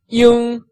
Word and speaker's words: 英: So Y pronounced E and I-N-G pronounced 英. So all together, 英, 英, 英, 英, 英, which is the first tone that is going from totally flat.